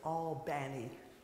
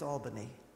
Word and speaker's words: Albany: it to Oakland California he took it to all Banny and I'm saying that on purpose in New York it's Albany but in Georgia it's Albany that's how they